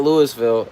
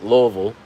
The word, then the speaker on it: Louisville: Not Louisville, Louisville. Right. That's what the locals say.